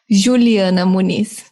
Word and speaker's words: Juliana: that correctly right Juliana yeah yeah you didn't pronounce the properly Brazilian way but it's correct okay what's the Brazilian way Juliana okay yeah I was way off there now